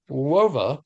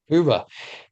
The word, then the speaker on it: Hoova: It is not WOVA, it is like an owl would say, Hoova.